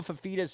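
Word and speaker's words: Fifita: Last year, he could not figure out how to pronounce Noah Fafita's name. Here's a hint. It sounds exactly the way that it's spelled.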